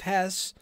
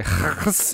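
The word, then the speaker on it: Höss: Real quick, just because we're going to say his name a lot, I'm not going to make the effort to say Hess every time. Hess. It's Hess's fine. Hess is fine, mostly because he's a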